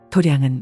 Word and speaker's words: 도량: 도량은 마당이 아닙니다. 우리가 몸담고 사는 곳이 다 도량이에요. 마당 장자를 쓰면서도 도량이라고 읽습니다.